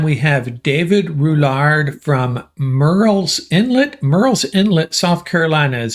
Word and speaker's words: Murrell's Inlet: you this time we have David rouard from Merl's Inlet Merl's Inlet South Carolina is that right Dave that's correct I did I pronounce that right morel's Inlet yes yes okay very nicely done yeah and